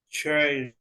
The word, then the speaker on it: chair: repeat Alex okay chair chair no you you don't say like CH no it's listen chair like chair or where where repair repair all right that is